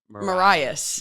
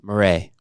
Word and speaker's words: Marais: it's all good so it's not Marias no morray which I love that